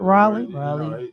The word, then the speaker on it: Raleigh: Raleigh.